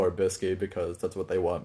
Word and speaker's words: Bisky: characters and everything was they say Bisky, but it's spelled out biscuit and everything like the food. So take it as you will. I'll call her Bisky because that's what they want me.